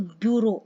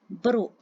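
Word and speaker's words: burrow: लिए, उसको बोलते हैं, जैसे हम कई लोग प्रोनाउंस करेंगे तो ब्यूरो, याद करने के लिए, पर इसकी राइट होती है ब्रो, ब्रो प्रोनाउंसिएशन होती है।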